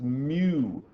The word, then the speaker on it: mu: read it on yours it's Mew it's the Greek letter Mew and it looks like